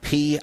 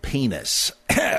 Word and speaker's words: Pines: Oh, it's Shlomo Pines, isn't it? Well, if you don't have any guts, you might want to mispronounce it that way in public because I'm afraid the Hebrew is Shlomo Penis.